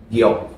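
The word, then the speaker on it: 玉: Bahasa Hokkien bacanya giok.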